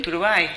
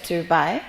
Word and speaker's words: Turbay: Thank you for having introduced me in the correct way, because usually the Ghanaians, when they pronounce my name, they say Turbay, and I keep saying no, please, it's Turbay.